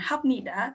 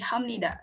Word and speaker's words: 합니다: mungkin kita tanya bertanya-tanya kenapa tulisannya Hanida Tapi bacanya Hamnida karena di situ ada proses asimilasi yang terjadi antara B dan ni jadi di situ bacanya bukan hapnida tapi Hamnida Sama halnya seperti imnida